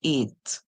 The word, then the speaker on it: ate: So this word, the E at the end is silent. The A makes a long song. We hear A, eight, eight. The E silent. So this small word right here says eight.